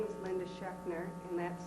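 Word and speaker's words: Schaechner: my name is Linda schner and that's spelled Zs c h a e c h NE R just the way it sounds shner with a z I'm a candidate for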